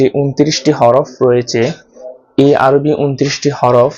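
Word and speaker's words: حاء: হাটা উচ্চারণ করতে হয় গলার মধ্যভাগ থেকে মৃদু চাপ দিয়ে এবং মুখটা একটু ছড়িয়ে হাটা উচ্চারণ করতে হবে।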